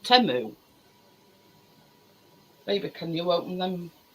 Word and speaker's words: Temu: Well, we all call it Temu, but it's an advert and they pronounce it Temu.